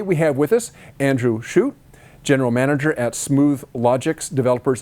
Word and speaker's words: Schutte: and did i get your last name right shoot uh it's pronounced several different ways we would commonly do scotty but um i answered to everything okay it's